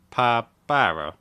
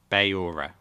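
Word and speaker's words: beure: to go for drinks, you would say Pa baura. No, I butchered that. Say it again. Ba yura. See. So, ba yura is to drink, okay?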